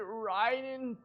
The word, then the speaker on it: Raiden: vessel of beelzebub oh can you at least pronounce it ryden dude raiden shogun raiden dogen the electro archon